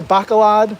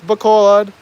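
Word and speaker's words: Bacolod: but I am surprised by how many people mispronounce Bolad. People say Bakalad. I've heard Bakalad a lot. No, it's Bolad.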